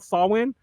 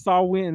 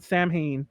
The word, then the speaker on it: Samhain: the way you know sam haynes put out sawwin salmon it's a it's uh what you call it damn it it's a wiccan word yeah it's pronounced sawwin so if you ever see that word it's saul win not samhain samhain like i just kept saying